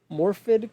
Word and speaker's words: Morfydd: my fifth pick is I apologize if I say your name wrong. Morfydd Clark as Galadriel from The Lord of the Rings: The Ring of Power.